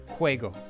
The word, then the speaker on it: juego: That would be like, well, paper is papel, computer is computadora, and game is juego, spelled with a J. It's Juego, juego.